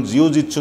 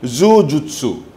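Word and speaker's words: jujutsu: এক ধরনের সমরকলা আর জিউ-জিতসুর কিন্তু প্রকৃত উচ্চারণ সেই সমরকলার প্রকৃত উচ্চারণ মার্শাল আর্টর প্রকৃত উচ্চারণ জিউ-জিতসু নহয় জু-জুৎসু জাপানিজ এক কলা সেলফ ডিফেন্সর জাপানিজ এক কলা এই কলাটোর প্রকৃত নামটো হৈছে জু-জুৎসু জে-ইউ-জে-ইউ-টি-এস-ইউ জু-জুৎসু মোর ভিজুয়াল সমূহ ইতিমধ্যেই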